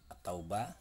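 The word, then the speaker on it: التوبة: atau batu atau bahaya attaubah hai hai hai alifnya dibaca jelas lamnya tidak dibaca lalu yang dibaca adalah huruf yang ada didepannya dan denis dan disini adalah ada tasjid jadi cara membacanya at-taubah seperti itu nah mungkin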